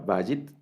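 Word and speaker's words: בַּיִת: La palabra vayit, el acento en esta primera, digamos en la primera sílaba, vayit, y esta palabra vayit significa casa.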